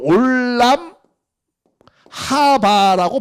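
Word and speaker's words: עולם הבא: 예수님이 왜 이 영생이라는 말씀을 했느냐면, 원래 이게 그 히브리어로는 올람 하바라고 발음을 해요.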